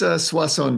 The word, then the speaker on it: Soisson: I'm sitting down with Joel Soisson. Is that how you say it? It's Soisson, but I'll answer anything.